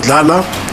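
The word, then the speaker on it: Thala: suspect I interviewed was tala it's spelled with a th tala who was traumat who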